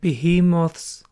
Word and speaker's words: behemoth: First of all, monsters and behemoths would be battle line. By the way, I looked it up. Behemoth is the American pronunciation and behemoth is the British pronunciation. So both is valid.